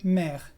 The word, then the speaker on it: mère: Lo vas a encontrar mucho en palabras que tienen una consonante final pronunciada y una E al final. Por ejemplo, en las palabras père o mère, que hemos visto al principio.